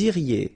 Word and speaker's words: iriez: Then vous iriez. So same thing here, make the liaison. Vous iriez. Remember, when you get this EZ at the end, you get the sound E.